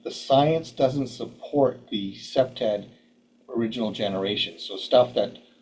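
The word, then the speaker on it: CPTED: updating uh to like second gen second generation SEPTAD as it's pronounced and um they were deemphasizing the amount of light the importance of light at that time.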